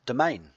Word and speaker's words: Demesne: domain this word here d-e-m-e-s-n-e is pronounced domain don't believe me go